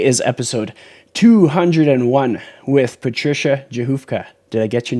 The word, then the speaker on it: Rzechowka: again so today is episode 201 with patricia johofka did i get your name yeah yours is